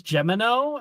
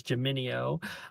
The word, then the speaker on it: Geminio: Yeah, it was written as Gemino, and it's not that, it's Geminio.